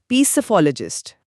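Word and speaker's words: psephologist: पहली बात तो यह कि इसकी स्पेलिंग पी से शुरू होती है जो कि साइलेंट है।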